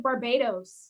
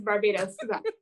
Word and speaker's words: Barbados: went bobby right yeah americans will be like barbados that's how they're like i went to barbados they like really do the edos like yeah cool it's barbados okay so another misconception